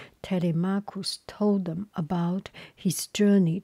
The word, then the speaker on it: Telemachus: As they were eating, Telemachus, just so that easy for you to remember, Tele, T-E-L-E, Marcus, M-A-C-H-U-S, C-H pronounced K. Telemachus told them about his journey to Sparta, about his encounter with red-haired Menelaus.